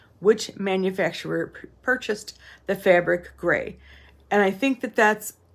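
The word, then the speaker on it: greige: It's spelled G-R-E-I-G-E, but it's pronounced gray.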